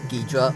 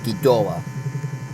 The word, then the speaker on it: Ghidorah: Ghidorah, or From an atomic Ghidra, or Ghidorah. However you want to pronounce it. Not judging. I use the pronouncement as Ghidorah.